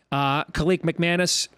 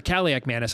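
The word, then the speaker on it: Kaliakmanis: Both quarterbacks, Gavin Wimsatt and Minnesota transfer, Kalik McManus, both looked good. Or Kalik McManus, I should say. I always put the wrong emphasis there on the syllable.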